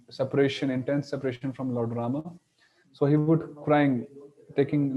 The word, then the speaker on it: Rama: left his body, so although the a of Rama is Vamana, and we pronounce it as simple Rama, but when he was crying, chanting Rama's names, so he was um emphasizing on the end part, Hey Ram, Hey Ram, Hey Ram.